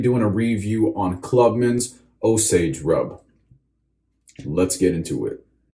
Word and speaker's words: Osage: appreciate it alright guys so osage rub or as we sometimes call it in the barbershop osagi osagie rub just says just as a joke that's how i pronounced it one time uh when i first started barber school and i went in and i was an apprentice and uh i misread it wrong and i called it